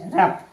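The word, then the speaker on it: rough: इसी प्रकार देखिए आर ओ यू जी एस रफ।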